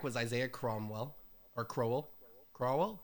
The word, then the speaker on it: Crowell: Crowell? I don't know how to say this. I love Isaiah Crowell. Crowell. Thank you.